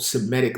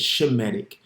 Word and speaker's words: Semitic: part of a quote-unquote Semitic line correct way to say is shemetic all right because we come from which means name in the Hebrew okay so all he's